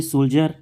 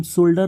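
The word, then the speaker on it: soldier: से हम नहीं पढ़ते फिर जैसे कि ये सोल्जर इसको हम सोल्डर नहीं पढ़ते जैसे देखिए डी के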